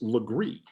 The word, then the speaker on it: Legare: the street names, because Legree is spelled Legare, Legare, but in French it's Legree.